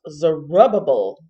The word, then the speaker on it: Zerubbabel: this dictionary and learn so the name is pronounced zerubbabel oh okay zerubbable and the name means offspring of babylon head